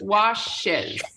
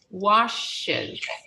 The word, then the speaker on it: washes: We have to write wash, lo convertimos en dos sílabas, washes, washes.